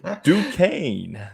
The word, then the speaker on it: Duquesne: State plays it's important to get the uh Duquesne air yes they are right did I say